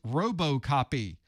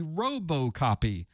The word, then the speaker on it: RoboCopy: Second on our list, RoboCopy. With the robos, with the robots. Is it it's not robot. It's robust. It's robust copy, although not really spelled like robust, but there we are.